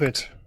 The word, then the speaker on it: Clovehitch: So tonight we are going to dive into a movie called, is it The Clovehitch Killer? Is that how you say it? Correct. Clovehitch.